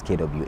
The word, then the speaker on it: Kwasi: So but the correct pronunciation is Kwesi. Kwa.